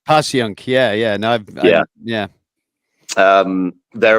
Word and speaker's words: Passyunk: It's called Passyunk Avenue or Passyunk, depending on how you pronounce it. Passyunk.